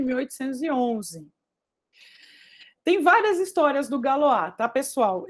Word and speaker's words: Galois: pouquinho da história do galoa e das equações algébricas tá bem Bom vamos lá então pessoal é o nome é galo a mesmo tá ele é francês se escreve Galois ou